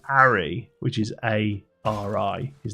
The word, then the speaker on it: Ari: He's like, yeah, Harry. He's like, no, Ari, A-R-I. Because he's from London, so like somebody from London would say Ari. All right, Ari. You know, they wouldn't pronounce the H anyway.